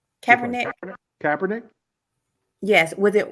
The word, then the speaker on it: Kaepernick: cap how do you say his name cabernet kaepernick yes was it right for him to kneel